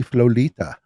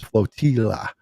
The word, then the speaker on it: Flotilla: Thank you, Emily Flolita. That's not how it's pronounced. It's Flotilla.